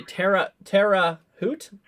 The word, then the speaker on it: Terre Haute: You say Terre Haute? Oh, okay. Well, thank you guys for fixing my pronunciation here.